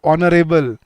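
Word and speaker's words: honourable: बोलते हो सर H silent है। एच साइलेंट होने से क्या हुआ? साउंड देखो क्या है? आर ओ ऑनरेबल और वहीं पे जैसे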